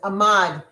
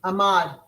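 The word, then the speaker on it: amad: Ahmad. Can you spell it for me, Michelle? Yep. A M A D. Ahmad.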